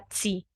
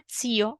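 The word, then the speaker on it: zii: I sola, que sería tsi, sino que agrega una I por una cuestión estética y sonora, ¿sí? Entonces, el plural de tsio va a ser tsi. Esas dos I se pronuncian, ¿sí?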